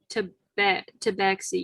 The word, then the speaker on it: tabaxi: It's pronounced tabaxi.